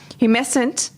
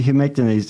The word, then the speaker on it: humectant: How do you pronounce it? Humescent. Oh. Humectant. Oh, there's a T in there.